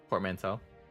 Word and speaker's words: portmanteau: First pronunciation is correct. Toe at the end. Portmanteau.